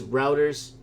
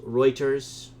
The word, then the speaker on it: Reuters: someone says big bluster says routers it's pronounced Reuters ok I know I